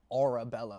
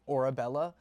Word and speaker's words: Orebella: It's Arabella. Like a u r a like your aura, right? Orabella.